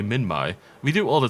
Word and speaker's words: Minmi: I don't want to call it Minmai. I get annoyed when people call it like Giganotosaurus and stuff like that, because it should be Giganotosaurus. That's the correct pronunciation. But I call it Minmi. So how can I complain when it should technically be Minmai?